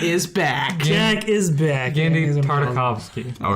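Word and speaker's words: Genndy Tartakovsky: Is it Gendy Tartakovsky? Yeah, you got it right that time.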